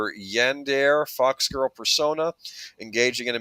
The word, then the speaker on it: yandere: And before someone says something, I do believe that the term is pronounced Yandere. Yandere, my mistake.